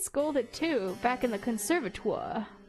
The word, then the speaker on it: conservatoire: You were always scolded too, back in the conservatoire. How the frick do you pronounce that? I'm googling that again. Conservatoire.